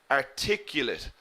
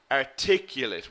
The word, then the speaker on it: articulate: confident and clear manner remember the adjective we pronounced differently articulate articulate we put the stress in the second syllable okay exactly Aziz we stress the late in the verb I pick you late